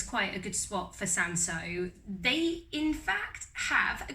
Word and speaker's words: Cinsault: and you pronounce it sanso so not quite like the spelling now the history of sanso some people think it's